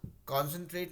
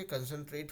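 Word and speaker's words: concentrate: मॉन्डे नहीं होके मंडे होगा, कॉन्सेंट्रेट नहीं होके कंसंट्रेट होगा, कॉमर्शियल नहीं होके कमर्शियल होगा, ठीक है।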